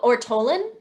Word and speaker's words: ortolan: want to go ahead sure how do we pronounce this word kathleen oh ortolen or tolan okay death of an ortolan on my first